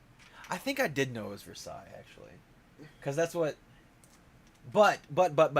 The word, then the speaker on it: Versailles: theater for sales i know how to save for sales versailles this is versailles huh yeah i'm saying it wrong you you are is it it's versailles do you know i know because i went